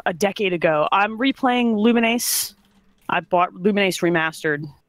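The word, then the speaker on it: Lumines: say the name again luminase that's the pronunciation I've never heard so that does look I think it's the actual correct I don't know it might be I don't know I've heard lumens luminous it's luminous luminous luminous um it's I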